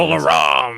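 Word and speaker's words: Mola Ram: From now on, you always have to pronounce it like this. Name gets brought up again, you're saying it like that. From the Molaram!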